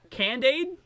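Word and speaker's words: Kandid: correct let's see uh candid like Band-Aid but with a k I'm just gonna call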